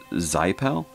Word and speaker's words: Xipel: So it does say who this is by is Xipel, I think is how you might pronounce it, X-I-P-E-L.